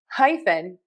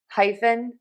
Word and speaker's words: hyphen: But to pronounce this word, we are going to say hi like hello and then fun like I am having the best time. So hyphen hyphen hyphen hyphen hyphen hyphen